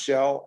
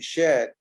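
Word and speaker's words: Kjell: shell k-j-e-l-l and um that's pronounced shell and then we moved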